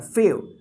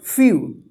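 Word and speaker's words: few: ठीक है ना फे नहीं पढ़ना है फे क्या पढ़ना है फ्यू इसको एम ई डब्लू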